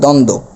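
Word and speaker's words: দ্বন্দ্ব: নিচে ব আছে তাহলে এই বফলার কোন উচ্চারণ হবে না আর শুরুতেও কিন্তু একটি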